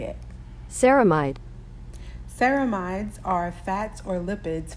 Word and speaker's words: ceramide: at episode one here's how you say it camide ceramides are fats or lipids found in the